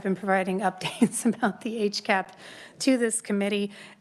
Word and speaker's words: HCAP: on the health care access Improvement program or hcap as we pronounce that acronym so I've been I think since I started in this job I've been providing updates about the age cap to this committee it's possible Madam chair that